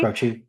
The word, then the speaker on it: Croce: I don't know how to pronounce his name, last name. Like, I think it's Cro Croce, Croce? Croce.